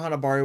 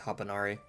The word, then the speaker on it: Hanabari: Hanabari was a man who had grown up in Dolltown. I think I was mispronouncing that earlier as Hapanari.